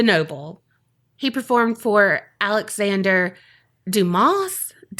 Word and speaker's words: Dumas: He performed for Alexander Dumas? The S is silent, right? He's French. Mm-hmm.